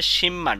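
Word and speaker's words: 십만: তো এখানে বিয়োপের পরে মিয়ম আছে, এজন্য বিয়োপের উচ্চারণ ম হবে। উচ্চারণ হবে শিমমান।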